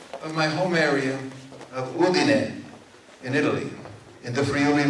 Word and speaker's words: Udine: all those lovely guys, they could never pronounce our name right. And they kept saying, Udine. It's not Udine. It is Udine.